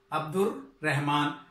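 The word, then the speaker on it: Abdur Rehman: अब आप देख रहे हैं अब्दुर्रहमान, तो बच्चों यहां पे देखें मोअज़्ज़िज़ नाज़रीन के अब्दुर लाम नहीं पढ़ा जा रहा, अब्दुर रहमान, क्योंकि इसका ताल्लुक हरूफे शम्सी के साथ है।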